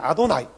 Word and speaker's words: 아도나이: 아도나이. 우리는 야훼라고 불렀어. 아도나이라고 불러야 돼. 아도나이.